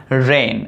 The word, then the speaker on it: reign: एन आ जाता है तो वहां पर जी साइलेंट रहता है। जैसे रेन, REIGN, रेन।